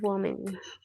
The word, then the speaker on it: woman: Now, when you have the letter A, the pronunciation will be man, Man. Man. man. Man. Mhm. Man. And this is woman.